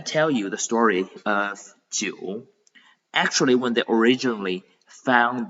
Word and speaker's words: 九: It is 九. So we divide the pinyin into two parts. The first part is ji, and then this IU is pronounced as you.